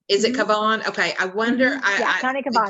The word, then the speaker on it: Cavan: Yeah, County Cavan. Is it Cavan?